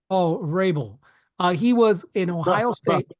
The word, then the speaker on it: Vrabel: than Mike Vrabel?